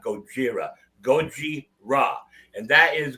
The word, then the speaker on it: Gojira: The correct pronunciation of the band should be Goji, not Gojira.